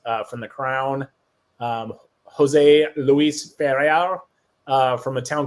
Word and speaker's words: Ferrer: And just to help you here, it's Jose Luis Ferrer. There you go. Nice. Much better pronunciation. You got to roll them R's. Ferrer.